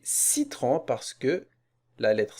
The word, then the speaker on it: citron: de la voyelle eu alors la lettre c va l'abattre s'il va pas se prononcer que mais il va se prononcer c'est citron on ne va pas dire quitteront mais citron parce que la lettre